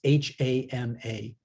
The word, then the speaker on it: Hama: a japanese name and it's spelled just as it sounds h-a-m-a hama i ease a pen